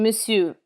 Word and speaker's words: monsieur: In monsieur, the final R is never pronounced.